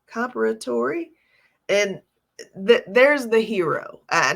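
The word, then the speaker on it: Comperatore: So the gentleman who passed away was Corey Comparatori, I think is how you say his name, Comparatori.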